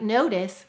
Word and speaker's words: notice: Go ahead and write notice, sounding it out as you write it. And help me to write it. N-o. Second syllable is tis. T-I-s. Silent final E.